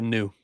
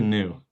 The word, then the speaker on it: Niu: So next on his list is Makai Niu. How do you pronounce his last name? Micah New. Micah New.